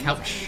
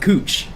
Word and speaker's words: Couch: So, like out oftowners when they visit Portland, they call it Couch Street because it looks like it should say couch, but locals call it cooch and it's always weird.